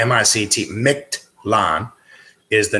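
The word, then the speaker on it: Mictlan: or may not be familiar with it MIT pronounce my CT micked LAN is the name of the realm of the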